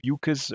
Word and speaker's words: Bucas: And Angela Sei, like I said earlier, uh the author Bucas rhymes with mucus.